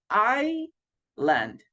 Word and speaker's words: island: confusing the pronunciation is Island so the letter s in this opportunity guys it's mute we don't pronounce the letter s everybody we only say I land okay then we have